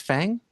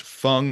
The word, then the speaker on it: Feng: Um Wait, isn't that pronounced Fang? Um I think it's but well, you could pronounce it Fang. I when I saw it most recently, it was pronounced Fung by the author and she said like feng shui.